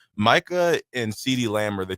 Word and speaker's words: Micah: See, I thought it was Michael. No, no, it's Micah. M I C A H. Micah and CD Lamb are